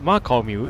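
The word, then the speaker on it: 媽閣廟: will be a temple Apparently it's pronounced "Ma Kao Miu" in Cantonese This is said to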